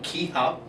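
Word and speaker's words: kihap: The ki up, pronounced K-I space H-A-P, ki up, is a loud yell that we develop from deep down inside of us.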